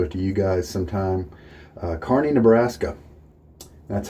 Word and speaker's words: Kearney: Kearney, Nebraska. That's how you pronounce that.